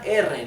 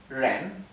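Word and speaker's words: rén: ejemplo la palabra persona la palabra persona es Ren con el tono ascendente Ren Así que la r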